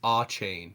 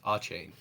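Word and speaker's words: Achane: pronounce his name it's a chain yeah it's a chain so it is oh so it is CH sound all right great um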